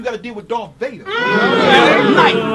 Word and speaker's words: Knight: Night. Check the spell and the K is silent.